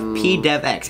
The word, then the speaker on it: pdevx: old freestyle we have pdevx and i kind of recently like last week learned how to pronounce his name it's p devx he's like the king